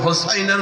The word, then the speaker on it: হোসাইন: হাসান আরেকজনের নাম হোসাইন অনেকে ভুল উচ্চারণ করে বলে হাসান আর হাসাইন না হাসান এবং হাদিসের ভিত আল্লাহর